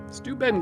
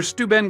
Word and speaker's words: Steuben: often mispronounced but rarely mistaken stu ben glass was regarded by many as the finest